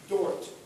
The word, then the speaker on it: Dort: Could you spell it for me? Dort, D-O-R-T.